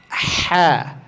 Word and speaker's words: ح: Dalam pengucapan huruf ha, dia lebih kuat penekanannya dibandingkan huruf aha. Aha yang di bawah itu lebih ringan penyebutannya aha. Aha. Sedangkan huruf ha itu naik sedikit, tekan ha. Ha.